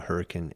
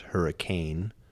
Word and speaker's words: Hurricane: as like many states there are uh local pronunciations of common words that are not um familiar to people outside the area but uh it is not pronounced hurricane is pronounced hurricane yeah